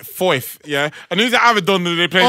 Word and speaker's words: Foyth: at These this man are even playing man like Foyth, yeah?